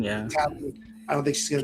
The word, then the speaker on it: Talon: I don't think she's going to be Darth Tylon, whatever I used to say her name. Talon, yeah. Talon.